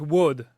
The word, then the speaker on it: WODD: And Yeah, but for listen, explain it's like the word weird and the word odd together, like just weird and odd, wood.